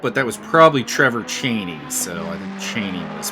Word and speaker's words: Chaney: It is pronounced. It's the same spelling, so I'm going to go with Chaney.